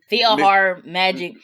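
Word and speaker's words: PhilharMagic: that but that mickey's filer magic how do you pronounce it it's like feel feel like feel heart magic i for people who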